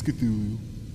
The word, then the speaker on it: Cthulhu: It's Cthulhu.